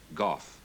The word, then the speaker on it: Gough: handicap was his name Gough Australians pronounced at guff war guru who were